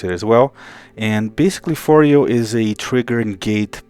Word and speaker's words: Phoreo: by martin martin clang the designer and he pronounces this foreo so that's how i'm going to pronounce it as well and basically fourio is a trigger and gate processor of sorts